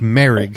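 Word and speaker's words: Moehrig: the draft trayvon uh that's how you say his name it's merrick everybody i kept hearing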